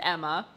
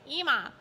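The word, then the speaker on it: Ema: Listen, if they wanted me to pronounce it Emma, they should have added another M.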